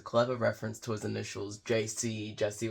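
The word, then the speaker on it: Djesse: reference to his initials JC Jesse with a silent D is pronounced like JC okay so it's JC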